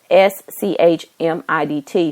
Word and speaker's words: Schmidt: h e r i and her last name is spelled s c h m i d t so I know that's Schmidt and um she